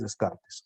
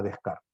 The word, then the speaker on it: Descartes: El máximo representante del racionalismo es Descartes, o Descartes. Se pronuncia Descartes. Nosotros en español, Descartes.